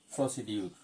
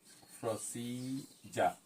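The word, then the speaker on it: procedure: আমরা এটাকে প্রনাউন্স করি। প্রসিডিউর। প্রসিডিউর বলি। কিন্তু আমরা যদি পনেটিক ট্রান্সক্রিপশনটা দেখি কি হবে প্রসি প্রসিজা প্রসিজা জের মত যে প্রসিজা প্রসিজা প্রসিজা বাসিজার বলে প্রসিজা প্রসিডিউর না শব্দটা হচ্ছে প্রসিজা প্রসিজা প্রসিজা তিনটা সিলেবল প্রসিজা এটা হচ্ছে নাউন পার্স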